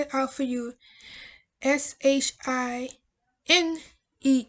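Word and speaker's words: SHINee: it out for you s h i n e e shine the other is your shine it's not shiny it shined period and since um kim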